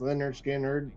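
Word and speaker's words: Lynyrd Skynyrd: This is an English print of pronounced Leonard Skannard, the very first Skannard.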